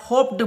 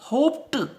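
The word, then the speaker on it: hoped: अगर हम इसमें डी जोड़ते हैं तो हम इसको साधारणतया होप्ड बोलते हैं, ड बोलते हैं, लेकिन आप देख लीजिए प का यहाँ पर उच्चारण आ रहा है, प की ध्वनि आ रही है, तो इसका जो हम उच्चारण करेंगे वो होप्ड, ट बोलेंगे, न कि ड।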